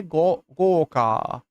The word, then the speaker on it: Gorka: Wait, what is pronounced Dr. Gorka? Is that what you're trying to say? Gorka.